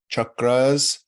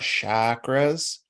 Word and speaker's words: chakra: and seven chakras and you will hear me pronounce this as chakras not shakras because um I'll tell you why as we go that's the best I can do with the original Sanskrit pronunciation um and we'll learn